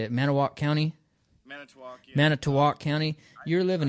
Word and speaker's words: Manitowoc: Manitowoc, yeah.